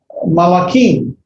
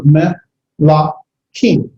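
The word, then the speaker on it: מְלָכִים: Its plural is malakim. Malakim. The reduced vowels, you have the ming has now as a shabbat underneath it, so melakim. Melakim.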